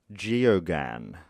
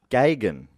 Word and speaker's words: Geoghegan: I would have, if I was having a crack at it myself, I would have said Ian Geoghegan. But I've looked it up, and it's actually Ian Gagan. So, which is quite different.